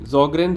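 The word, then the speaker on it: Sjögren: रिमेटोलॉजी का कोर है ये ज़ॉग्रेन सिंड्रोम, ठीक है, एस साइलेंट है, ठीक है ना, याद रखना।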